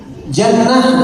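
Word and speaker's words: جَنَّة: Tapi dibacanya apa nih? Kalau jannah surga atau kebun, junnah pertahanan, perisai, benteng, jinnah jin atau gila.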